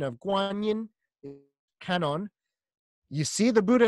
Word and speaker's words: Guanyin: This Avalokiteshvara in China becomes the Chinese way of saying Avalokiteshvara is Guanyin, Guan Shiyin, hearer of the world's crying.